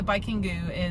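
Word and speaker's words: バイキング: But yeah, so Baikingu is Viking.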